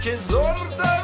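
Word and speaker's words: Kyzylorda: Kizorda region is how you pronounce me.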